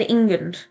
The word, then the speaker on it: Ingund: Actually, I checked with all of my family to see what they thought, like how you pronounce this name. They all said Ingund.